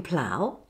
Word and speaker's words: plough: For the ow in plough, cow.